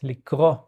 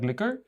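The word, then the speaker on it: לקרוא: a li kro yes li kro li kro is it like liquor no li kro is a to read Ah, lickro.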